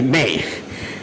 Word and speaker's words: me: M-E, but they pronounce like May.